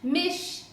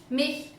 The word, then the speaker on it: mich: Another question that I get asked quite often is, why do you say ish, mish, dish rather than ich, mich, dich? What's up with the pronunciation?